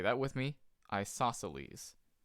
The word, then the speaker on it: isosceles: congruent this is pronounced isosceles so yes say that with me isosceles it's a Greek word that's why it sounds kind of strange so that's where two